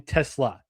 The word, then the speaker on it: Tesla: It's actually It's like the car brand Ryan Tesla. So, it's Isaac Tesla.